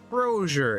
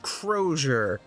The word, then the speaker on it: Crozier: already oh let's go brosure it's pronounced Crozier got it committing this